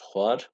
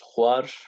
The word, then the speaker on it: xwar: Min goşt xwar, te goşt xwar, wî wê goşt xwar, me goşt xwar, we goşt xwar, wan goşt xwar. Arkadaşlar diftonga özenin lütfen. Har demeyin. Har değil. Xwar. Xwar. Yani bu V harfini telaffuz edeceğiz.